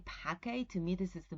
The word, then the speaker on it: pace: most correct transition because it comes from Latin and that's supposedly how we pronounce the C but you can hear also patch a and Pacey right and this is